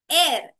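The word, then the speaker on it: heir: earth that we breathe एर एच ई आई आर यहां H silent होता है तो एर एच आई आर को हम एर की तरह ही प्रोनाउंस करते हैं अब ये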